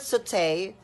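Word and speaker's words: sauté: next we have saute the word saute pronounced as saute refers to the form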